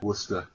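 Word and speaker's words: Worcester: you know you have towns like wora wora well that's I mean okay whatever yeah but it's spelled w r c s t e r oh that's like wow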